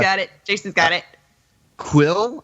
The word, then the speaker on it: Kuiil: Quill, I think is how Quill? it's pronounced. Yeah, Okay.